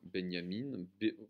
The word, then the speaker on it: Benjamin: ensemble un test de benyamin walter benyamine ça s'écrit comme benjamin qui s'intitule oeuvres d'art